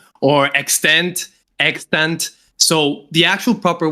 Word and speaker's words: EXTNT: saw the bio and the bio said it's pronounced extent on my YouTube channel but then you thought you how did you think it was said? I thought it was pronounced like extant like with a hard